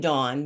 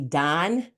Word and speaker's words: Dawn: the other was named Dawn and my mom was like oh I like Don so growing up people call me Don like d o n instead of dawn like you pronounced it correctly and I hated my